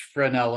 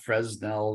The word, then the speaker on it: Fresnel: uh you know but the fresnel is pronounced fresnel not fresnel that type of thing